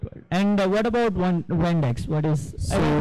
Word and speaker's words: WandX: And what about WandX? What is, so, are you pronouncing it right? Yeah, it's WandX.